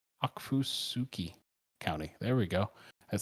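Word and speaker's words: Okfuskee: central susie wow that's a fun one to pronounce akfusuki county there we go at 7 29 pm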